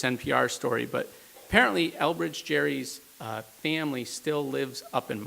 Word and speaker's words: Gerry: tend carefully to our Gerry collection, because they have his books ended up being the foundation of the Supreme Court's library, but we pronounce it with a hard G.